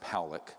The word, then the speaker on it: Pollock: This man, William Pollock, his name is pronounced Powlick, was a man, very good man, who gave me an interview only to be released posthumously after he died.